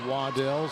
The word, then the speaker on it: Waddell: Campbell with the rebound, and Waddell or Waddle. I'm not really sure how to pronounce her name, but David Hecker, the PA announcer, said Waddell, so that's what I'm going with.